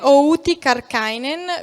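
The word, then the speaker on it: Outi Kärkkäinen: noi virtualmente che è avuti karkkainen vi assicuro che questa è la pronuncia corretta il saluto confrontata eco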